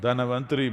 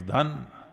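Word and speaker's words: Dhanvantari: North Indian people must connect, don't go on clipping away one syllable and come Dhanavantari becomes Dhan, Trayodashi becomes Tera.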